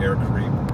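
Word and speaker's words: Air Caraïbes: It's actually air Caribbean is how they say it in Well, he was saying you say Karib Karib Air Karib.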